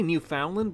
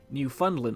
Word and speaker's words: Newfoundland: I always want to say Newfoundland, but not too long ago I had a comment from somebody who was actually from there on one of my videos saying it's pronounced Newfoundland, not Newfoundland.